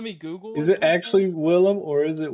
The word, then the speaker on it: Willem: How do you spell that again? I don't think it's... Let me Google. Is it actually Willem or is it William?